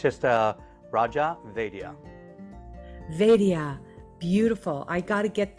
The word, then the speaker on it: Raja Vaidya: your full name certainly is it's just a raja vedia vedia beautiful i gotta get that everybody knows